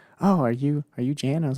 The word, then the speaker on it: Jan: Yeah, but it's pronounced Jan, like you're about to fall asleep.